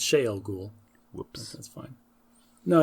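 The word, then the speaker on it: Shayol Ghul: How many evil wielders of the one power known as the Forsaken were originally imprisoned in Shavel Ghul by the Creator? It's Shael Ghul. Whoops. That's fine. No, it's a pronunciation thing.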